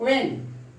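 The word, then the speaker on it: when: जब भी डब्ल्यू एच के बाद ई आई और वाई आता है तो एच का प्रोनाउंसिएशन नहीं होता है, एच का प्रोनाउंसिएशन नहीं होता है।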